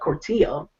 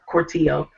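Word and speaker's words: Cortijo: So today, the Atlanta Dream re-signed Carla Cortillo. That's how to pronounce her last name.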